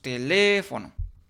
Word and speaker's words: teléfono: Decimos teléfono, ¿sí? y nos damos cuenta que la sílaba tónica es la sílaba le, por lo tanto